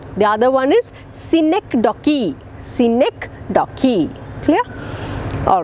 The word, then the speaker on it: synecdoche: figure of speech i hope you got the pronunciation hyperbole the other one is synecdoche scenic docky clear all right and look upon myself and